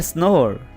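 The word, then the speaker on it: sew: आप यूं ही समझिए कि ये डब्ल्यू की जगह ओ है, आपने इसे पढ़ना है सो।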